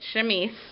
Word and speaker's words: chemise: under underneath um and this is called a chemise and that is how you pronounce it chemise um and so it's kind of like a